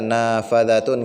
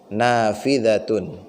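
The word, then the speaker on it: نافذة: Nafi, nggak mungkin nafa, nggak. Nafidatun. Jendela. Ya kalau kita nanti sudah terbiasa ya pola seperti ini tidak kita baca nafadatun enggak nafidatun. Karena polanya fa'il.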